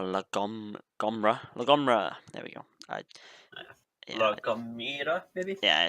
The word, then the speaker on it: La Gomera: Yeah, La Gomera, maybe. yeah, it's that. Yeah, like how we pronounce it is not how it should be pronounced.